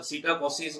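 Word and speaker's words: psittacosis: इसमें पी जो है वो साइलेंट है, सीटा सीटाकोसिस और ऑर्निथोसिस, ठीक है।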